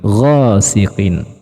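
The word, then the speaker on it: غَاسِقٍ: Nah, biasanya kesalahan yang sering terjadi pada siqin, pada pelafalan huruf qafnya, kecenderungannya larinya ke huruf kaf. Wasiqin. Nah, ya, qaf dan kaf juga berbeda makhrajnya. Jadi ghasiqin. Ya, cenderung lebih tinggi dari huruf qaf.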